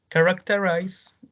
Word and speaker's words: characterize: Yes, characterize. We have 4 syllables, and the stress is in car.